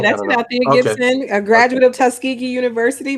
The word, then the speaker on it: Althea Gibson: I tried over and over to pronounce it properly. Althea Gibson? Am I saying? Yeah, that's Althea Gibson, a graduate of Tuskegee University, my alma mater.